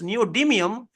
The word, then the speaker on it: neodymium: 146 with Neutron because neodium neodymium as we pronounce neodymium is one place to the left which is